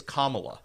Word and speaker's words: Kamala: But it's Kamala. Make sure we pronounce it properly.